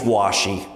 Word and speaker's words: Washy: It's Washy, like wash the car, Washy, but he goes by